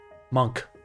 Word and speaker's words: Munch: went to the edir Munch Museum monk pronounced a monk apparently but saying munch my whole life um okay what am